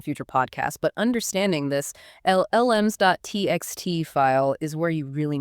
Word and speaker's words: LLMs.txt: It's LLMs.txt. So 2 L sounds at the start.